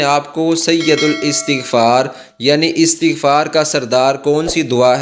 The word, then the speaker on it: استغفار: میں بتاؤں گا۔ دوستو، اکثر ہمارے لوگ اس کا تلفظ استغفار کرتے ہیں جو کہ غلط تلفظ ہے۔ یہ عربی زبان کا لفظ ہے اور اس کو استغفار پڑھنا ہے، اس کا یہ درست تلفظ ہے۔ اس کا معنی